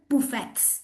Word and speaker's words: buffet: Guys, it's not buffets, it's buffets. Okay? It's French word. We should not pronounce the last T.